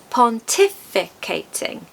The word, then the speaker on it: pontificating: It has five syllables. Quite a few. As with many long words, we're going to stress the second syllable. Pontificating.